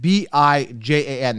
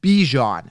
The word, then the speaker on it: Bijan: Bijan, B-I-J-A-N. The reason I'm not pronouncing it wrong, when you say bi-weekly, do you say, because they're calling him Bijan, which is not how you pronounce his name.